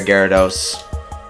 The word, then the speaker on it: Gyarados: it's about gallardos but you know it is pronounced Gyarados so yay urza I thought that was Ezra